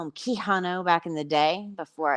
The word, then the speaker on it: Quijano: Quijano. I asked her in the beginning if it was Keanu, like, the hot, sexy Reeves. It wasn't, but that's okay, because I used to call him Quijano back in the day before I got the